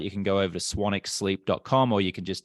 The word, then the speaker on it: Swanwick: Instagram at swanic my last name is actually spelled swanwick but it's pronounced swanic and then um you